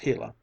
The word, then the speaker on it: Gila: hot Sun shone down on the Gila monster pronounced Gila it was no longer tame and gentle but